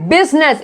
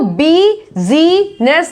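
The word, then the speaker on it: business: आई कहाँ कहाँ साइलेंट होता है, बिजनेस, इसको बीजीनेस नहीं बोलते हैं, बीजीनेस बोलेंगे नहीं, ये क्या है, बिजनेस, बिजनेस।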